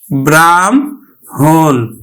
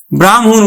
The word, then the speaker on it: ব্রাহ্মণ: যুক্তবর্ণটি গঠিত হয়েছে কিন্তু আমরা উচ্চারণ কিন্তু ম টা আগে উচ্চারণ করি আর হ টা কিন্তু পরে উচ্চারণ এখানে ধ্বনি বিপর্যয় ঘটে যায় আমরা উচ্চারণ করি কিন্তু ব্রাহ্মণ ব্রাহ্মণ উচ্চারণ করি তো শিক্ষার্থী